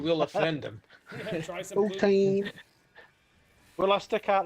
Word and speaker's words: poutine: Poutine, not poutine.